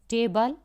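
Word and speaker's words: table: Next है टेबल। अब टेबल में भी टे पे ज़्यादा स्ट्रेस आ रहा है, टेबल बोलकर आप देखेंगे,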